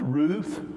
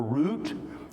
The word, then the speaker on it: Ruth: In Hebrew, it's pronounced Ruth or Root, depending on how what Hebrew scholar you're looking at, how they pronounce the tav at the end.